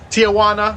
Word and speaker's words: Tijuana: Tijuana, that's how you pronounce it.